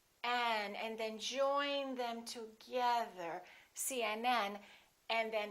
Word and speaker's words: CNN: PD the rule is we stress the last letter of an abbreviation for example CNN UCLA